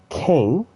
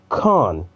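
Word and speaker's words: Khane: It's not Kane, it's Khan. For some reason, they changed the pronunciation for that, but it gets fixed later on.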